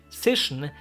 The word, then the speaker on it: Zischen: get it right, because it starts with a Z and immediately has like an sh after, which were really hard for me at that time and still sometimes can be.